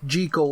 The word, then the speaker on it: Jekyll: Jekyll, or Mr. Hyde, whichever it was, being a refined gentleman in bot mode. Jekyll? I think technically that's how it's supposed to be pronounced.